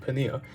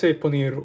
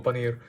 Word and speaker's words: paneer: had a British accent, paneer. I say paneer or paneer because it's pronounced with the Indian, like the rolled R, right?